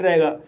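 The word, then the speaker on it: raw: आर को रा पढ़ा जाएगा, ए को ओ पढ़ा जाएगा और डब्लू साइलेंट रहेगा।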